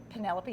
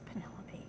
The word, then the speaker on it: Penelope: They're like, that's Penelope. Oh. Who would ever pronounce that Penelope? It's Penelope. It's like, I thought it rhymed with antelope. Yeah. Antelope, cantaloupe, penelope.